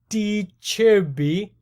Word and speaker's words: De Zerbi: gonna look at something slightly different what roberto d chirpy as the italians pronounce it can bring a brighton as brighton